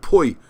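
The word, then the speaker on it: pwy: y which means hugh that's why i get slaughtered from my welsh pronunciation but it's hoy and poi so you say who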